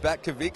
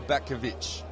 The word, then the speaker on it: Batkovic: Well, actually, first question that's probably most important out of anything else, is your last name pronounced Batkovic or Batkovic? Either or. Either or is fine, that's good.